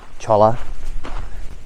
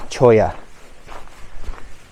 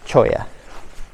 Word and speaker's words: cholla: So I called it Cholla Cactus Gardens. Such a white guy pronunciation. I apologise. The correct pronunciation, so far as I understand it now, in my new learned state, is Choya. So not Cholla, Choya.